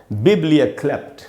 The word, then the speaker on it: biblioklept: इसको पढ़ेंगे दोस्तों बिब्लियोक्लेप्ट। बिब्लियोक्लेप्ट, इसको बिब्लियोक्लेप्ट नहीं पढ़ना है। इसमें जो स्ट्रेस है वो पहला बी में, पहला जो बी है, उस जो बड़ी ई है उसके नीचे मैंने उसको अंडरलाइन किया है।